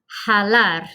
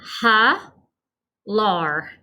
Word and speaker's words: jalar: All right, last one for this group is jalar. The J sounds like a H. Jalar. So it means to pull, which will be our movement. Pronunciation, ha, lar. Ha, lar.